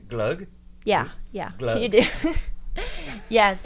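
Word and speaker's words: gløgg: G and that's do I say it right glug yeah yeah you do yes how is it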